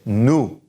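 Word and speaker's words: nous: it okay so say nu nu the oh you sound is ooh and no pronunciation of the s so new alright now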